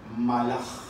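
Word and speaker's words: מלאך: Vamos a ver qué palabra en hebreo es la que se pronuncia, la que se menciona cuando se va a referir a ángeles. Es la palabra malaj.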